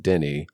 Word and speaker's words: Denis: I know it's pronounced Denny it's it looks like Dennis it's pronounced Denny for people that are